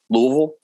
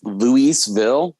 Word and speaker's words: Louisville: were having a uh if you're from here you say like you have a mouth full of marbles louisville uh but it's louiseville is the proper peninsula yeah yeah louiseville same as st louis